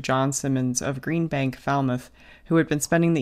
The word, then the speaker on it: Falmouth: And I'm going to pronounce this town as we do in Pennsylvania, which is Falmouth. Okay. Okay. I think it's Falmouth here, isn't it?